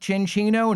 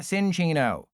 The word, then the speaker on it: Cinccino: It is indeed pronounced Cinccino, not Sinccino.